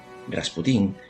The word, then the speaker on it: Rasputín: en los últimos días de la dinastía romanov rasputín es la transcripción al español procedente de la francesa aunque más acorde con la pronunciación en ruso es la forma más putin